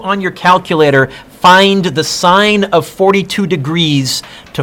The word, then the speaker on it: sine: Sine, S-I-N-E, abbreviated S-I-N, pronounced sine, not sin. Sin is when you don't do homework in my class. Sine is the trig function.